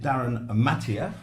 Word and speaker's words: Darryn Mathee: And we've got a gentleman here who knows all about it, Darryn Mathee. Did I pronounce that?